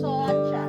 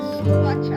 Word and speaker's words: Soacha: Y de hecho no se dice Soacha, se dice Soacha.